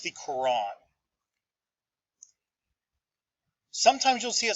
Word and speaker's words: Quran: i've got two different spellings the word is pronounced the quran sometimes you'll see a spell with a q